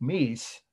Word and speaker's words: Mies: was sullivan that that popularized that but he meece they just called me so you just write